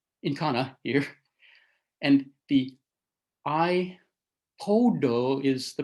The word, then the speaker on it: iPod: Well, iPad really should rhyme with bat, and iPod should rhyme more with pot. And yet it doesn't. It rhymes more with boat when produced in the